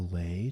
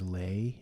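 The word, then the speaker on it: lei: song my day is lay in Hawaii is one of those Hawaiian floral necklaces that rhymes with day May May Day is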